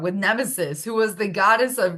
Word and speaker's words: Nemesis: With Nemesis. I said her name wrong. With Nemesis, who was the goddess of retribution and hubris.